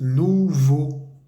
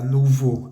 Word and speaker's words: nouveaux: plural vamos a decir nuvo el a u x se pronuncia como la o en español u nuvu nuvu y como seguido de la palabra nuvo hay una palabra que